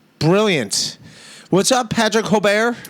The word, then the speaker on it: Holbert: And he goes, no, it's Holbert.